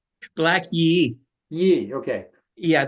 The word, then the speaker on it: Yé'ii: That's interesting because in your book, Black Yay, do you pronounce it Black Yay? Black Yé'ii.